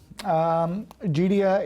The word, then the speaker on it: Geidea: We're here today with Celeste Malhotra, General Manager of Geidea, and I think I pronounced Geidea correctly that time, correct?